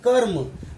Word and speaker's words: कर्म: पर यहाँ देखिए कर्म, तो पहले क हुआ फिर र हुआ और फिर म हुआ, मतलब यह र म से, इस र का उच्चारण म से पहले हुआ है।